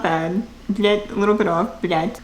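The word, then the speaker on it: блять: Because I feel like there's really no reason an English speaker couldn't pronounce it as a instead of in that word. Like blять instead of bleh, the way people pronounce it.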